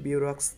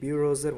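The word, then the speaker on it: bureaux: এটার উচ্চারণ কিন্তু বিউরক্স না, এটার উচ্চারণও এই বিউরোজের মতোই হবে, দুটোর উচ্চারণই সেম, দুটোর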